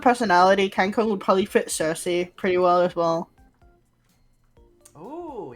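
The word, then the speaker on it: Circe: Cersei? Yeah. Cersei spelled like that. C-I-R-C-E, if I recall.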